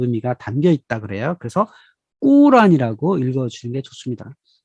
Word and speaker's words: 꾸란: 하늘에 올라가 따왔다 라는 이야기입니다 이 꾸란 여러분이 코란 일하고 계시잖아요 코 라는 사실은 영어로 쓴 거구 약간의 비 하자 그 의미가 담겨있다 그래요 그래서 꾸란 이라고 읽어 중에 좋습니다 이 꾸란 은 이런